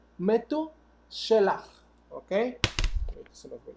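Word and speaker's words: מתושלח: Matusalem en hebreo se dice Metu Shelach.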